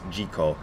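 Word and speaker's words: 自己: chinese or japanese word which is pronounced in japanese jiko and that word usually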